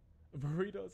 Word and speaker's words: burritos: Burritos are lit though. Burritos. That's not racist. That's how you say it. When there's back-to-back R's, you roll it. You roll the R's.